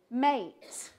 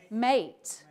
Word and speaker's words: meat: sound two different spellings not for Shakespeare Shakespeare would have said this word mate mate he would have said mate and meet okay mate and meet